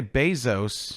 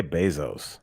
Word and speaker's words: Bezos: differently is it bezos is it bezos i always say bezos i say bezos yeah like basil yeah not the not